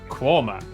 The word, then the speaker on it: Quernmore: Gotham go followed by a stop in quernmore quma before finishing up in alwick anik which is